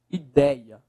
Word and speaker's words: ideia: Qual é a sílaba mais forte? Dei, professor. Última, penúltima, paroxítona. É uma paroxítona.